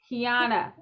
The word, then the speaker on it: Keyona: butcher my name so i should do better kiana yes mia we are here okay so we